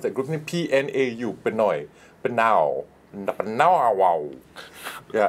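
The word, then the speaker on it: Pnau: you know like the elton john and the pinoy what how do you pronounce that grouping p-n-a-u pinoy but now now wow yeah it's so it's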